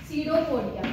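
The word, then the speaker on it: pseudopodia: सीडोपोडिया, P silent होता है बेटा, SIDO means false, पोडिया, पोडिया means क्या होता है, पॉट्स, हाथ पैर, ठीक है।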